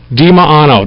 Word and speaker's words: Dimaano: how do you say your last name diano dimaano don't worry Paul's got your microphone already on